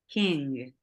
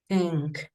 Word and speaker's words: king: King. King. Don't forget the king. King. Here, no es K, no es G, it's ing.